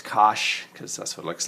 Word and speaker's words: cosh: this is called the hyperbolic cosine which people pronounce cosh because that's what looks like however hyperbolic sine